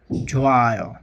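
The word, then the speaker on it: 좋아: জন্য আমাদের নিয়ম হচ্ছে হিউদ বাচ্চিম থাকলে ডানে যদি ইয়ং থাকে তাহলে আমরা হিউদটা সাইলেন্ট হয়ে যাবে। সেজন্য সেক্ষেত্রে আমরা উচ্চারণ করব ঝোয়ায়, ঠিক আছে? হিউদ উচ্চারণ হবে না।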